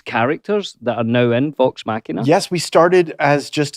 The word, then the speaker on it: Vox Machina: when I was watching Vox Machina, am I pronouncing that correctly? Yes, Machina. Vox Machina, you're doing it Vox Machina.